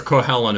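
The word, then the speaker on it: Cú Chulainn: Cuchulainn is how we usually say it in the U.S.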